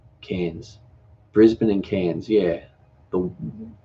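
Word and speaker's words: Cairns: Brisbane and Kenny are you've written canes yeah it's spelled see a I are in s Cannes Brisbane and Cannes yeah but quite like ends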